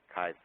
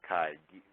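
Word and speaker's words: chi: this it looks like an X by it's Kai it's Kai Greek letter and it's pronounced high squar so that's what I'm going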